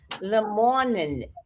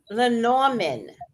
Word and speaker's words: Lenormand: I always pronounce it Lemornin oracle. I don't know how to say it. Is it Lemurian or maybe you're Leo, saying it right? I'm saying it wrong. Lemurian? Maybe? Lenormand oracle.